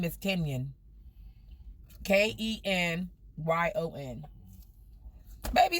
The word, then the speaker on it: Kenyon: Oh, Kenyon. Put your say something so she can see it on the screen. Kenyon. Pronunciation is Ken-YUN. Kenyon. A lot of people can't pronounce. Like Funyun, Kenyon.